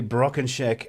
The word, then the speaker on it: Brockenchack: in a weird way so and and you pronounce the name beautifully broken shack and um some people might think that that's